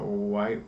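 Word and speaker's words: wight: Which makes me think it's like Whit Walker, but I guess it's pronounced White Walker. That's how I say it.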